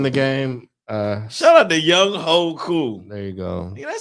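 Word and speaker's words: Younghoe Koo: The place kicker for the Atlanta Falcons, his name is Young Ho Koo. Young Ho Koo. And it's like spelled how you think it's spelled. I seen the memes like, oh, how's whatever.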